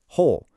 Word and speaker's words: whole: Whole, no W sound whatsoever.